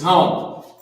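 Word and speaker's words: הם: Now this is not ham, because ham is pronounced chum. C-H-A-A-M. And that would be, in today's language, ham. Right? But that's not what we would write. We would write exactly how it's spelled, chum. Right? And that's ham. But this is hum.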